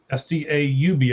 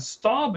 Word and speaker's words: Staub: Now, Staub, S-T-A-U-B, I believe it's pronounced Staub, he went 7 of 10, 157 yards.